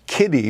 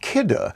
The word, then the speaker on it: Kidde: might always pronounce as kitty because it's k-i-d-d-e you say oh i've seen that name i have those products but it's pronounced kidder sharon cooksy sharon welcome